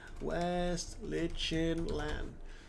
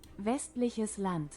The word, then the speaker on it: Westliches Land: I'm just so used to West Liechenland, how it phonetically looks like. But I know that's not the case, and Trier is being curb stomped.